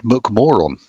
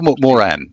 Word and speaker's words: McMoRan: It's Freeport McMoron or Mcmoran, depending on how you want to pronounce it in Irish.